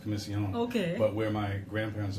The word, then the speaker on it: Comissiong: John actually interesting enough where I'm from in Trinidad is it is pronounced commission long okay but where my